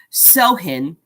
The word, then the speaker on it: Samhain: Halloween's origin dates back to the ancient Celtic festival of Samhain. Oh, it even shows how you pronounce it. Samhain.